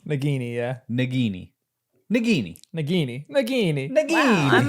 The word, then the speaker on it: Nagini: That's the hard G.